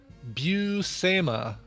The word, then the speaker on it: Buscema: Here's the pronunciation. Buscema, Sal Buscema and John Buscema.